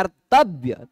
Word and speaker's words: कर्तव्य: ऊंचे से उच्चारण होगा तव्य ऐसा बोला जाएगा कर्तव्य त थोड़ा सा ऊंचे से बोला जाएगा ठीक है उदात हो